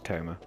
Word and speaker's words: Tomaj: I believe the J is silent. I believe it's Toma.